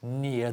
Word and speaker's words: near: The document is on the desk near the window. Near the window, yeah? Near, not near. No quiero escuchar ninguna sonido de eres.